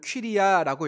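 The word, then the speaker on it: κυρία: 퀴리어스라는 단어의 여성령이이 부녀입니다 헬라어로 읽어보면 퀴리야라고 읽히는데 조금 의역해보면 이런 것입니다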